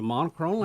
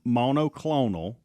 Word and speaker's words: monoclonal: too yeah he did he's back to saying it wrong that's funny how you go in and out you'll add an r and then leave the r out what you said at that point yeah it's monoclonal colon but for some